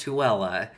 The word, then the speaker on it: Tooele: The town is spelled like Thule, but it's pronounced Tooele.